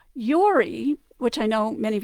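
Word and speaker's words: Jori: But in Val Giudicari, you will see it often spelled J-O-R-I, Yori, even into the 19th, and I think even into the 20th century.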